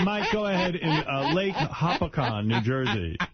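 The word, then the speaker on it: Hopatcong: All right, Mike, go ahead in Lake Hopatcon, New Jersey. Is that how you say it? Like a pack-on.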